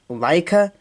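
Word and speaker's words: Laika: are the movies from Leica l a i Kaa is how you pronounce it h but I don't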